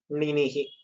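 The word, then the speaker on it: णिनिः: Ninihi. One for this first nakara, you need to roll your tongue a little bit. Na is just normal.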